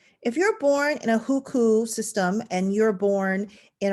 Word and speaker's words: hukou: who system in mainland people's republic of china it's spelled h-u-k-o-u the huku system is china's household registration system in a